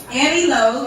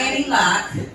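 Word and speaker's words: Aniloc: Annie Low, not Annie Lock. It is spelled L Oc. It's Annie without the E. So, A N I L O C.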